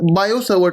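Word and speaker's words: Biot-Savart: magnetic field strength is bio server law this is silent it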